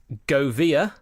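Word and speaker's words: Gouveia: footballer had represented under pronounciation warning in effect go via G o UV e ia why not go via at youth level before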